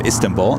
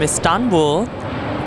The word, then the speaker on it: Istanbul: This is Turkish 8 Mike Tango coming in from Istanbul, 7879 Dreamliner. She also reminded me that it's Istanbul, not Istanbul. Say it again? You accent the second syllable.